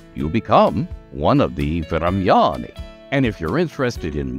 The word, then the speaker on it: Vremyonni: So 3 syllables, emphasis on the second one, the Thremyani, also known as the Old Ones.